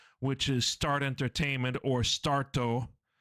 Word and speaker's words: Starto: is Start Entertainment, or Starto. That's the Japanese pronunciation of it.